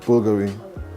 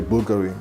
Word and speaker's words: Bulgari: How I pronounce it? So I'll just say the way that you're supposed to say it, Bulgari. So again, you say Bulgari, which is the way you did it.